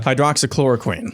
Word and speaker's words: hydroxychloroquine: Hydroxychloroquine. Thank you. That's too many syllables for me.